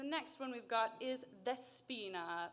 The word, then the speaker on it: Despina: one we've got is despina pronounced the spina with a very closed very bright e i'm so proud all